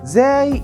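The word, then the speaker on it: زاي: The letter zay is the equivalent of the letter z in English, and both have the same pronunciation.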